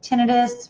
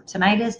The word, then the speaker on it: tinnitus: problems it's associated with tinnitus or tinnitus depending upon how you say it ringing in the